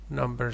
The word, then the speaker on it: numb: Number 6, numb. Remember, B is silent.